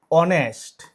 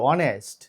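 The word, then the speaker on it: honest: এই ধরনের সাইলেন্ট থাকে। আরো কয়েকটা ওয়ার্ড রয়েছে। যেমন অনেস্ট এসও এন এসটি অনেস্ট।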